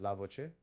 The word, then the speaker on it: LaVoce: visual speech enhancements entitled lavoce it's pronounced lavoce which means the voice in Italian engineer foreign my name